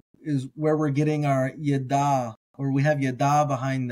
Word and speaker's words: ידע: I'm doing with Hebrew, I like to pronounce my ayins as gutturals, like guttural stops. So here in Genesis 3:22, we have leda'at. So that da'at there is where we're getting our yada, or we have yada behind that.